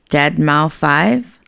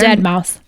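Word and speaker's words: deadmau5: Wanted to drop in and say thank you for talking about Debbie and Dead Mouth 5. Love both of them. Dead Mouse. That's how they spell it.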